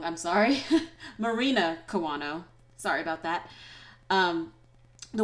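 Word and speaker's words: Marina Kawano: a reason to come out and the way mourinho i feel like i said her name wrong i'm sorry marina kiwano sorry about that um the way she sings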